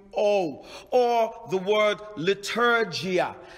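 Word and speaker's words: leitourgia: worship is la true oh la true i'll spell it for you l a t r e u or the word liturgia liturgia l e i t o u r g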